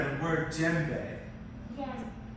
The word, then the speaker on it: djembe: And you do not pronounce the D.